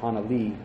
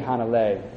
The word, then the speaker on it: Hanalei: Puff the Magic Dragon they mentioned in town called Hana Lee and it's actually hanalei but they made it rhyme with the song the food bank when